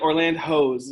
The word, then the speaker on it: Orlandhos: today we have the orlandos in the house like orland hose am i saying it right yes yes you are most people are drawing